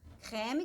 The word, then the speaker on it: crème: Crème que tem aqui um acento grave, então é importante, né?